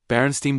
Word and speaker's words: Berenstain: She remembered the name clearly because as a child, she had mispronounced it, and her mother corrected her repeatedly, emphasizing the stain sound. Berenstain Bears, not Berenstain.